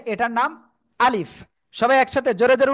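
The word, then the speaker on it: ألف: অক্ষরের নাম কি আলিফ কেমন উচ্চারণ হবে আলিফ মুখের খালি জায়গা থেকে অক্ষরটা উচ্চারণ হবে আর কি করতে হবে নিচের ঠোঁটের পেট উপরের দুই দাঁতের আগের সাথে লাগিয়ে হালকা বাতাস বের করতে হবে শেষে আলিফ এ অক্ষরে কোন টান হবে না কি হবে না এই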